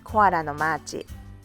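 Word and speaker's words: コアラのマーチ: the way koala's march in japanese we pronounce it koara no machi it also contains three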